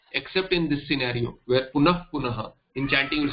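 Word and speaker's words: punaḥ punaḥ: Punaha punaha will become, so punaf punaha, that this is the only place where fa is pronounced punaf punaha, not punaf punaf punaha, not punaha punaha, punaf punaha. This is the only place where you will hear the Hindi fa, the way you say fool.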